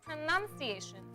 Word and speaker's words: pronunciation: Yeah, well, it's not pronunciation, it's pronunciation. It's not noun, it's none. None, right.